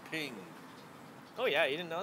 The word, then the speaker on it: PNG: found that out that PNG is pronounced ping oh yeah you didn't